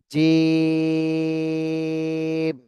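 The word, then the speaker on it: جيم: এরপরে দেখেন জিম, এটা জিহ্বার মাঝখান উপরে তালুর সঙ্গে লাগায় উচ্চারণ করতে হবে, তিন আলিফ টান।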